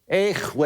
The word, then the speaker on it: Yahweh: It was eventually pronounced with a W, Yahweh.